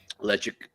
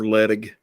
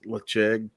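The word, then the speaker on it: Ledaig: Lechig. Yeah, Lecheg. Or Ledig, if you're a hick. Yeah. Yeah. If you're a redneck, Ledig. I did that video, and Daniel H. like, Marty, it's Lecheg.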